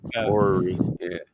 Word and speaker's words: orrery: Well, do you know what an orrery is? Orrery? I know it's kind of a strange word. It's like O-R, like the way it's spelled. It's basically orrery.